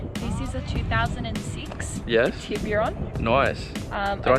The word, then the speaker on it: Tiburon: And this car is a Hyundai Tiburon, or if you're from overseas, it's also called a Tuscany.